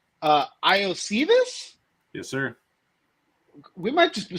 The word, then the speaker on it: Iosivas: or like a cheap week 1 flyer, Andre Islovas. I don't know if I said that right. He's going to be this. Iosivas.